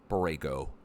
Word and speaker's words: Borrego: Borrego.